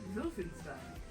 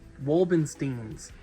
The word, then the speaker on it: Wolfenstein: Am I saying that correctly? Wolfenstein. No. How do you say it? Wolbensteins.